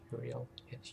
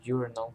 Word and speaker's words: Uriel: With the death of Uriel, um, Uriel. Yeah, I think I heard someone say urinal or pronounce it as urinal.